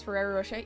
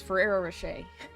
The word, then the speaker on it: Ferrero Rocher: Anyone know how to pronounce Ferrero Rochet? Yes, Ferrero Rocher.